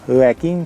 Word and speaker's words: Joaquin: amigos nos encontramos con joaquin phoenix como dicen ellos porque no pueden pronunciar la jota no tienen ese sonido dicen aquí en phoenix por joker a la